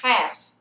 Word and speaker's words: half: Aqui, ó, é half, não é half, tá? Half. O L é mudo.